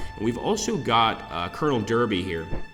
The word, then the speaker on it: Derby: And we've also got Colonel Derby here. Or is it Darby? It might be Darby, I think is the correct pronunciation, in fact.